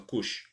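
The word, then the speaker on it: Kush: Que a grafia varia, pode ser C-U-X-E ou K-U-S-H. A pronúncia é a mesma, Cush.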